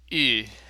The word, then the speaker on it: Ü: Pronunciation-wise, you can think of it as the same as U without the umlaut, except the tongue is brought forward as if you were trying to say E. Ü.